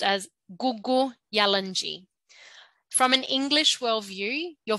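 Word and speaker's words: Kuku Yalanji: out with a G so the K is a g so it's pronounced as Google yellenji so listen closely if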